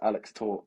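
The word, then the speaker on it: Alex Tóth: Uh, I think and all I know about him is that he pronounced Alex Tor, which I'm going to try and try and use.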